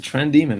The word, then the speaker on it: TrenDemon: It's like you had this whole lifetime of experience before you even got to TrenDemon. Am I pronouncing it correctly? Did I over anglicize it? No, it's great. TrenDemon.